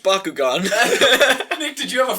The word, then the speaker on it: Bakugan: and you're like, it's pronounced Bakugan.